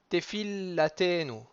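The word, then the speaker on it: תפלתנו: Et tefillatenu. Tefillatenu. Donc, on ralentit un petit peu sur le fil et ensuite, on va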